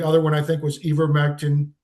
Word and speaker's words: ivermectin: hydroxychloroquine, anybody that endorsed that, and the other one I think was ivermectin, if I'm pronouncing it correctly, Ivermectin, yeah.